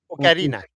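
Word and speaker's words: Ocarina: Okarina. Okarina. Is that how it's actually pronounced?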